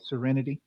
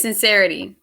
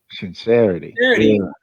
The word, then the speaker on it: Sinc3rity: good how are you doing good am i pronouncing your name right serenity yes sincerity sincerity there we go i appreciate it you know